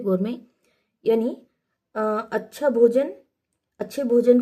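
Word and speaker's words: gourmet: पहला ऑप्शन है गोर में। टी साइलेंट है यहां पर गोर में यानी अच्छा भोजन अच्छे भोजन का परखी।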